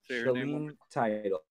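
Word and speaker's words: Shaleen Title: And Say her name one more Shalene Title. Can you spell it?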